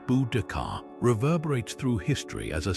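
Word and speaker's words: Boudica: Her name Buudaca, pronounced Budakar, reverberates through history as a symbol of fierce independence, tragic vengeance, and unwavering resistance against overwhelming foreign might.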